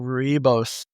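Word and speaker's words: Rooibos: Oh yeah, I think it's with another O though. It's spelled Rooibo. Oh, Roybos. Yes.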